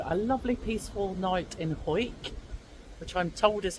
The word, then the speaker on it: Hawick: So, a lovely peaceful night in Ho, which I'm told is how you pronounce it.